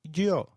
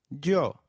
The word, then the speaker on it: yo: please noos and no the Y is pronounced like the English Y in some areas sounding just as it would in English while in others it